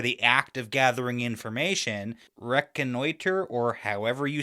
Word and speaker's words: reconnoiter: I don't think you said it right. Reconnoiter. But anyways, I figured it meant something like get reconnaissance on because I know the word reconnaissance. Yeah, reconnoitate.